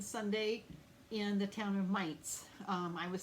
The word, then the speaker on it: Mainz: Friday, Saturday, and Sunday in the town of Mainz.